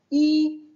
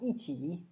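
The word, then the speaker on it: 一: On les prononcera deuxième ton pour Iding et quatrième ton pour Iti. Mais alors quand c'est qu'on va prononcer I au premier ton? Eh bien tout simplement quand on va compter.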